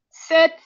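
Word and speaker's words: sept: Entonces tenemos el seis, luego tenemos el siete, sis, digo sis set. La T normalmente al final no suena, pero aquí sí suena.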